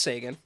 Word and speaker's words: Seguin: weeks so that puts him mid-april um Tyler Seguin say again there's no a it's pronounced Sagan I don't care put an